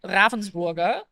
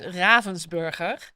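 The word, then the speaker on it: Ravensburger: stream is very strange because I use a mix of like the the Dutch and the English version because if it if I were uh German it would be Ravensborg but the Dutch version is Ravensburg and I sort of mix because of the G over there.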